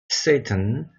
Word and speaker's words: Satan: The Lord said to Satan. Satan이라고 발음을 해야 됩니다. 이거. Satan.